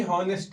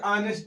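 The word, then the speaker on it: honest: पड़ेगा एन ऐसे ही हॉनेस्ट है लिखा हनेस्ट पढ़ते ऑनेस्ट है ऑनेस्ट से आएगा इसलिए हम लगाएंगे एन किसी बच्चे को अगर कहीं ना समझ में आए तो आप कमेंट कर सकते हैं।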